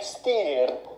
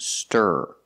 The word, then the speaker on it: stir: mean whisk ah yes this word is not pronounced steer it's pronounced stir using the IR sound like Burger it's it's a Clos sound and you make a voice in the back here low in a low position Burger stir stir not